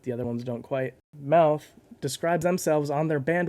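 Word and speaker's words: Mowth: song is called choking mouth is spelled m-o-w-t-h and because of that every time i look at it my brain says meowth like the pokemon but that's not correct and i'm sorry for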